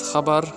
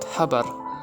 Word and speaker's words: Xabar: Now, even I struggle between those because it’s subtle, but yeah imagine HHHH but it’s corrupted so it goes XXXXX. Words with XXX is Xabar and NOT habar.